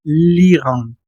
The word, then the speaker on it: l'Iran: La pronunciación sería l'Iran.